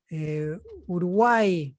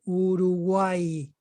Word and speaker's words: Uruguay: The pronunciation sounds like the other E. For example, many people will say Uruguay, my country, right? Uruguay. It will sound like an E.